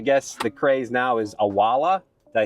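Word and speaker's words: Owala: I never jumped on the Stanley craze, or I guess the craze now is Awala. Did I say it right? Yes, you did. Awala.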